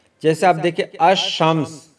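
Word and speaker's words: الشمس: जैसे आप देखिए, अश-शम्स जब पढ़ेंगे तो अलिफ लाम खामोश होगा, यानी साइलेंट हो जाएगा, तो खामोश हो जाएगा, और हम पढ़ेंगे अश-शम्स यानी अलिफ लाम साइलेंट।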